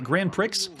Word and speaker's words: Grand Prix: this is Grand Prix he was pronouncing it all wrong isn't it Grand Prix for the Atari BCS